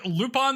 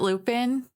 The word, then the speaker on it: Lupin: uh they also animated lupon theii you may have heard of it you don't pronounce it Lupin Lupin lupon I thought about naming